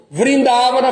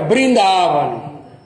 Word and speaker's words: Vrindavana: Aí, o que a Bataji perguntou, por que às vezes nós vemos o V pronunciado como B? Isso é a pronúncia bengali. Vrindavana fica Brindavana, tá? Por causa da pronúncia do bengali.